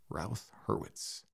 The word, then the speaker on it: Routh-Hurwitz: Hertz Criterion is and hopefully learned how to pronounce it ralth herwitz we also learned about why we need it